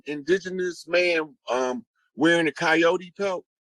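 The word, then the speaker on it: Kiot: and it's it's um it's spelled that way and it sounds like coyote or coyote but it's a tribe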